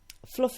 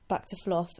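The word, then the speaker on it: Fluph: Fluff is spelt F-L-U-P-H, and it is a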